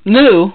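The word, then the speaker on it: MW: Then we have Ode to Kirihito by Tezuka, Go-Go Monster, Taiyo Matsumoto, and then Mu, which is spelled M-W, which has also been adapted into a live-action movie.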